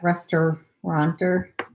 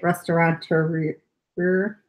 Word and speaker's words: restaurateur: how you say that restauranteur that's not right that's how you say it restaurateur like entrepreneur but rested with restaurant kick the bucket in